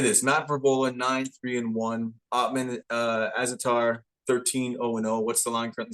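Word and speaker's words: Azaitar: Azatar?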